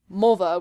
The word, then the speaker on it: Mulva: they think of is mulva which is supposed to rhyme with vulva and then eventually like